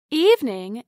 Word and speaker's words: evening: Evening is pronounced with two syllables instead of three.